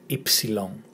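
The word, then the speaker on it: ύψιλον: This is the letter Ypsilon. Ypsilon. If you remember Tipsy Long, and you take away the first and the last letter, Ypsilon.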